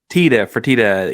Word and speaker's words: Fertitta: Did I pronounce that right? Is it the Fertitta Center or Fertitta? Fertitta.